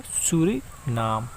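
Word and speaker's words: Suriname: और जो ये कंट्री है इसका नाम है सूरीनाम। इसको इस तरीके से प्रोनाउंस करते हैं।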